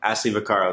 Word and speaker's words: Ashley Vaccaro: Ashley Vaccaro.